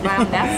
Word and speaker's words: Bowness: Bowness, I think actually is how they're pronouncing it.